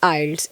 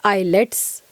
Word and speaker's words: IELTS: सी इट is actually आइल्स, इट्स नॉट आईलेट्स।